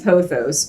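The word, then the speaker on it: pothos: one makes so many poos or PA I say poos but some people say poos and it's p p o t h o s however you want to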